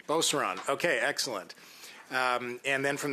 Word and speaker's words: Beauceron: Shipley, I'm not sure if I'm pronouncing this correctly, if it's Beauceron or Beaucran. I'll let you clarify that for us when the time comes. Would you take the opportunity now? Which is it? It's Beauceron. Beauceron.